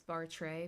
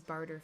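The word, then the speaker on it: Bartre: a very sad sight how do you guys pronounce barter I'm like almost a hundred percent sure it's Bart ray because that's how I hear other people pronouncing it but in my head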